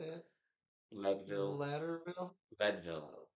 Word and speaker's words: Leadville: say it Leadville Lille Leadville like lead like like actual lead like they were mining oh lead like pencil lead yep kind of but